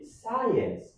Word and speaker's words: science: b is silent okay number three we say science science so the science science so the c is silent you don't have a